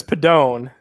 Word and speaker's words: Pedone: name your last name my last name is padone hey yup you got it okay well this